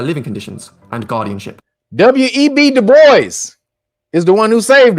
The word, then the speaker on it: Du Bois: Du Bois, or Dubois, really is how you say that name, is French.